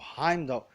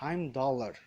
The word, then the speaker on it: Heimdallr: Então, por exemplo, Heimdall, que é interpretado pelo Idris Elba, é na verdade Heimdallr.